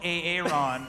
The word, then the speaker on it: Aaron: And he prefers to be called Aaron. And everyone's been pronouncing it wrong all these years.